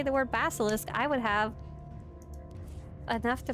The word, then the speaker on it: basilisk: how to say it it's supposed to be basilisk like a basilisk Dragon the dragon okay let's